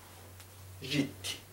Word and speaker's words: jiti: Jiti. Recuerden, las dis pequeñitas no se pronuncian fuertes, son suaves nada más para identificar que ahí hay un sonido como de i.